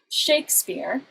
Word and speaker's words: Shakespeare: and so we have shakespeare it's a word where you put the stress on the first syllable and then in multi-syllabic